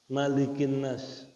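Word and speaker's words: مَلِكِ النَّاسِ: Tapi kalau annas enggak ada alifnya, enggak boleh dibaca malikinas. Nah, ini mesti Malikinas.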